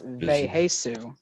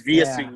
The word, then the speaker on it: Vheissu: It's like It's pronounced Veheisu. Veheisu. I always used to think it was Viasu or something like that.